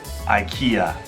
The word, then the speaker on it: IKEA: 宜家 IKEA, 一共有3个音节 IKEA.